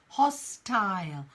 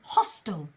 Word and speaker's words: hostile: a tail hostile Isle but in American English often you'll hear the word hostile it's a hostile takeover hostel hostel yeah and either pronunciation is correct it depends who you're speaking to an American English or British English in British English you will hear more of an hostile so hostile great riah